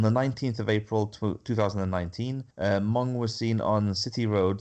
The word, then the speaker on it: Mong: Mong, M-O-N-G. Is that pronounced Mong? Yeah, Mong, like Mongo McMichael. Okay. But without the O.